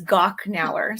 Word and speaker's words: Gochnauer: It's Gochnauer. So the CH is like a K, a hard K. It's the hard K. Okay, Gochnauer.